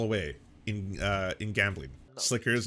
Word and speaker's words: Sliker: blowing it all away in uh in gambling Slickers how it's pronounced all right what to say it's time